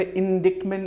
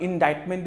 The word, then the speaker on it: indictment: Next word is called इंडाइटमेंट, इसका pronunciation थोड़ा सा सही कर ले, इंडिक्टमेंट नहीं होगा, इंडाइटमेंट इज the pronunciation, इंडाइटमेंट, fine.